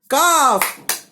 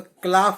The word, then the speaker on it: calf: काफ।